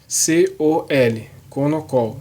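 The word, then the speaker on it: Konnakol: Pronuncia K-O-N-N-O-C-O-L, Konokol, tá?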